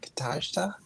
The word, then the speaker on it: Katajta: So I always pronounce that Katajta.